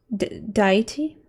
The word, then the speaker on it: deity: be his wife i was transcending into deity deity that's how you pronounce it and would would lord over riven